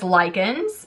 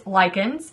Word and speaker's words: Lykins: So it is L-Y-K, my last name is Lykins. So if you didn't know how to pronounce my last name by chance, it's Lykins is the proper way.